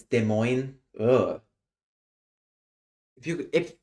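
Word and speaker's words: Des Moines: So why is it pronounced de mo? It should be pronounced demo.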